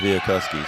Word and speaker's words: Chwialkowski: It's spelled Chwialkowski. Yeah, there's all kinds of ways to butcher that one. I'll tell you that right now. Well, one of the coaches told me it was pronounced Biakuski, so I'm hoping I'm right.